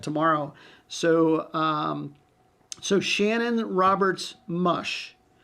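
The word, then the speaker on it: Musch: So, so Shannon Roberts Mush, M-U-S-H is how it's pronounced, but it's spelled M-U-S-C-H.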